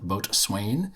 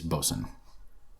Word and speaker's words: Boatswain: for them but uh they do all the bosan which I incorrectly called boat Swain which is how it's written um but if you pronounce it the right way it's bosen um so don't send me any hate mail